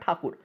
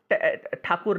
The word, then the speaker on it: ठाकुर: जो इनका रविंद्रनाथ टैगोर इनका नाम था रविंद्रनाथ ठाकुर अंग्रेजों ने टैगोर कर दिया कक उच्चारण प्रॉब्लम होता है अंग्रेज ठाकुर नहीं बोल पा रहा